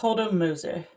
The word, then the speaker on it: Hodelmoser: So Hodel rhymes with yodel, and then it's Moser, which is quite easy on the mouth. Hodelmoser.